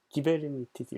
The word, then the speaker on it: Kubernetes: 이거 어떻게 발음하냐고. 그랬더니 기베르니티스 이렇게 진짜 발음하더라고요. 근데 아무튼 그리스어에서 출발했고요.